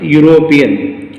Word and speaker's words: European: See here a European, E silent. That's why European, a European, again ya sound reflected.